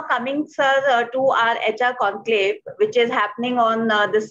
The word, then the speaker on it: Conqlave: So we pronounced this as conclave and we spelled it as CONQLAVE.